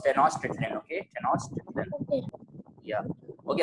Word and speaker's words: Tenochtitlan: Technolation is not the right. This is not the right pronunciation you're saying right now, Rayan. It was Tenochtitlan.